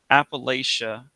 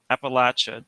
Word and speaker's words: Appalachia: Appalachia? No, it rhymes with come back at ya, the way that Yeats rhymes with hates, not heats. Appalachia, Appalachia doesn't rhyme with euthanasia any more than Eurydice rhymes with cowardice.